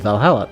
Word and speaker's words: VA-11 Hall-A: The name sounds silly and a bit hard to pronounce. Good thing it's actually called Valhalla.